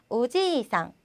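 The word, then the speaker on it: おじいさん: 자, 예를 들어서 오지상, 오지상 할아버지가 되고요. 오지상 해서 이가 없어지면 아저씨 또는 뭐 숙부 이런 다른 단어로 바뀝니다.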